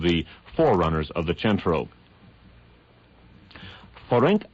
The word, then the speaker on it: Ferenc: So you'll actually pronounce it Nagy Ferenc.